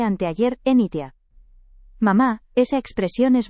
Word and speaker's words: anteayer: Mamá, no se dice antiar, se dice anteayer.